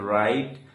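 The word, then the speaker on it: right: একইভাবে এল আই জিএসটি লাইট টি আইজিএসটি টাইট আর আইজিএসটি রাইট এম আই জি এসটি মাইট প্রত্যেকটি শব্দে এখানে জিএইচ এর উচ্চারণ হচ্ছে না।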